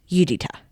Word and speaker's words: Judyta: There is the detective who everybody calls Judy, but her name is Judita. Judyta, pronounced Judita.